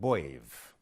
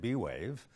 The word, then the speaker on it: B'Wave: about 30 years ago it's called bave you can pronounce it b-wave but you'll be wrong I'll get into the